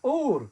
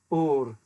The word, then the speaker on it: Ur: Rather than using the guttural at the beginning of the name Ur, as I've been trying to emphasize here with my appalling Ashkenazic pronunciation of things. They use the open-voweled Ur, which in Hebrew means fire.